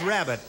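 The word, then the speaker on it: Welsh rarebit: where's your rabbit your rarebit your rabbit oh well they pronounce a Welsh rabbit but you're right is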